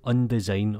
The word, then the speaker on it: Undesign: of the internet but this is called undesign or un design depending how you like to pronounce it and it's just